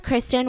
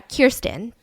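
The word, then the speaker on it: Kerstin: later so life with kristin was uh kirsten is the pronunciation was hard i mean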